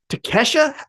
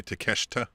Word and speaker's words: Takeshita: left with Brian Daniel said now Ethan page Kesha is that how you say his name the Japanese guy from last thing I think I think with a T at the before the a takeshita yeah nailed it Ketchup gotcha Kesha um well